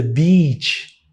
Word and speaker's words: beach: Porque quando você vai pra praia, você tá muito feliz, você tá alegre, você vai à praia, you go to the beach, be beach, beach.